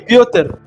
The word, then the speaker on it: Piotr: Se pronuncia Piotr.